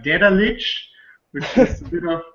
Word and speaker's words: Daedalic: It's Daedalic Entertainment. Daedalic. Okay. See, because I would probably go with the A too much, and I think that's where I would mess up.